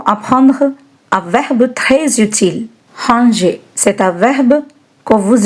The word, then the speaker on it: ranger: In this word, the letter G is soft, like in the word manger.